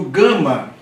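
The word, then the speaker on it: γάμμα: Outra observação importante: o gama sempre tem som duro, como eu falei, ga, ge, gi, go, gu.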